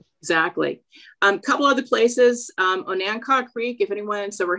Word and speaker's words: Onancock: I believe I'm pronouncing that right. I know the pronunciation gets a little odd in some of those areas. It's Onancock.